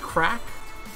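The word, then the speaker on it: craic: Like, what's the Crake with you? Oh, what's the crack? Oh, it's pronounced crack? Alright. It's Irish slang.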